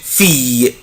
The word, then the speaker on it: fille: une fille une fille une fille fille يعني بنت، البنوت او البنت.